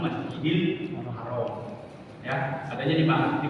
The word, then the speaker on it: Masjidil Haram: Ya, kalau dalam penulisan secara Latin Masjid Al-Haram bacanya disambung Masjidil Haram.